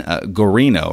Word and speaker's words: Guarino: And also, as I mentioned there in the intro, that we had Gene Guarino, right? That's how you pronounce his last name. Correct.